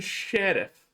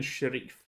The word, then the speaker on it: Sharif: Stephen Sheriff. No, it's Stephen Sharif.